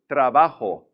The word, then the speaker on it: trabajo: When a Spanish word has 3 syllables, stress the middle one. If there's no accent there to tell you any differently, stress the middle. So, trabajo, I work. Trabajo. You're going to stress that middle syllable.